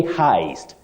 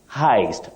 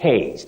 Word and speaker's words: heist: about a bank robbery you say Heist Heist not Hast then the past tense